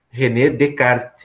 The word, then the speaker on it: Descartes: que aprender venecar Descartes mas a pronúncia é renée de kart ele é francês né